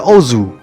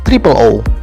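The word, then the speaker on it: OOO: kadang membingungkan untuk diucapkan kita memang akrab dengan pengucapan Ozu walaupun judulnya ditulis dengan tiga buah huruf o namun juga dapat ditulis menjadi iOS yang merupakan bentuk plural dari huruf o tersebut mirip dengan judul Kamen Rider Faiz yang baru kita bahas sebelumnya namun kadang ada juga yang menyebutnya sebagai triple walaupun pengucapan resmi tetap Ozu dan Sama halnya dengan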